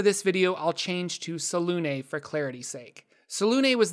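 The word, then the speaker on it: Selûne: Officially pronounced Selune, I realize I say it incorrectly from what was stated in games such as Baldur's Gate.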